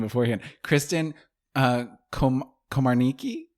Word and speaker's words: Komarnicki: name beforehand Kristen uh komarniki Komar Nikki Komar Nikki okay Komar Nikki yeah I just realized I've I've never actually said your last name yes it's pronounced exactly how it looks okay for some reason